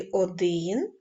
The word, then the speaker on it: один: олівцем і поставте наголос в слові один наголос падає на звук и в слові 100 наголос